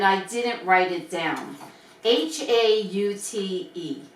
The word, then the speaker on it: haute: Haute. Hot. Yeah. Haute. Oat. Hope. You don't even pronounce the H. It's oat. Oh, I Oat. I always used to say hot.